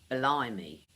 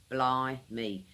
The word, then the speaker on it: blimey: Slang word number two "BLIMEY" that's "blai·mee" blimey two syllables What blimey means